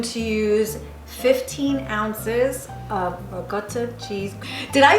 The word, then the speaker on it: ricotta: Ricotta. Oh, look at the camera. No, it's good. Regort. That's how you say it. Regort. No, that's how you say it from New York. Regort.